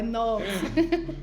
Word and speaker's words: Knox: é o kinox Kids mulher nox Kids é nox esse k é maravilhoso né Todo mundo quer